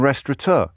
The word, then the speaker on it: restaurateur: Oh, and by the way, there's no N in restaurateur.